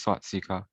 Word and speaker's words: Swastika: It's pronounced Swastika.